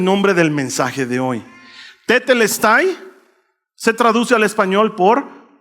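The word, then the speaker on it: τετέλεσται: Esa palabra se pronuncia tetelestay, que es el nombre del mensaje de hoy. Tetelestai se traduce al español por todo está cumplido.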